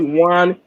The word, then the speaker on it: Wan: It's called one 2.2. The one is spelled WAN.